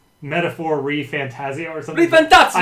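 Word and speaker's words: ReFantazio: ref fantasio or something fantasio I like to do it Italian style metaphor I shoot to the CEO I play the metaphor fantasio my last name is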